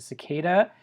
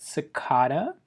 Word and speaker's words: cicada: Now, of course, a cicada is an insect. Some people pronounce it cicada. You say cicada, I say cicada. Let's call the whole thing off.